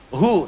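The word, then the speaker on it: هو: Hu, singkatan dari huwa. Hu itu singkatan dari huwa. Huwa begini. Karena kalau kita wakaf dalam bacaan huwa, wa-nya nggak dibaca. Bacanya hu. Contoh, Quran surah kedua, ayat 255, ayat kursi.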